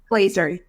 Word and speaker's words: Glezer: me today Dr Anna is it gazer or Glazer Glazer yes Glazer okay I just want